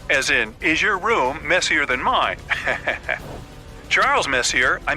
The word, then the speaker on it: Messier: well young lady the m stands for Messier pronounce Messier not Messier as in is your room messier than mine Charles Messier I mean Messi a to be precise was a French astronomer in